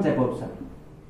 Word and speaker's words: Jakobson: तो सबसे इंपॉर्टेंट है इसमें रोमन जैकोबसन। रोमन जैकोब्सन भी इसको बोलते हैं, कैसे भी प्रोनाउंस कर लो।